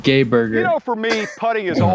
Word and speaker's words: Geiberger: Oh, Al putting Geiberger, plane. Mr. 59. I think it's pronounced Gay Burger.